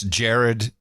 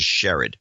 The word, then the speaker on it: Sherrod: Brown was vetted as it's Jared, Jerrod. Brown. Well, they always pronounce it Sherrod.